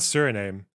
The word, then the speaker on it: Suriname: it serum or serum or serame it's not Suriname is it suram uh wait sorry hang on what's the uh pronunciation Surinam Surinam yeah okay uh okay I